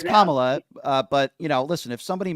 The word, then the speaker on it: Kamala: One of these days she's going to, Yeah, I think it's Kamala. It's Kamala. But, listen, if somebody mispronounces her name unintentionally, I don't have a problem with that.